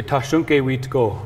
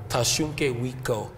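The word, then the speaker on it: Tȟašúŋke Witkó: So in our language, we say Tashunke Witko. Tashunke Witko.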